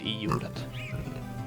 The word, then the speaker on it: ljudet: Or is it ljudet? Ljudet, yes, that is the sound. So what's the L doing there? It's just no old spelling because it was pronounced in the past.